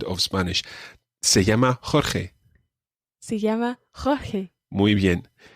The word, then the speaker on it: Jorge: Jorge, exactly, yeah. It's a really tricky name, but it's a good name to practice the j sound of Spanish. Se llama Jorge.